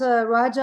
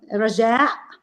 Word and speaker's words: Rajaa: Raja I'm Raja okay in Arabic it's called Raja but since in English or Hebrew you don't have the ah at the end ra it's very difficult to pronounce it so I say raja but anyway my um